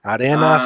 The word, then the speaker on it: Arenas: uh daniel arenas yes so we could pronounce it that way because the word is there right arena arenas so yes that's uh